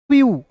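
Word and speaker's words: few: फ्यू। एफ ई डब्ल्यू को क्या पढ़ेंगे? फ्यू पढ़ेंगे।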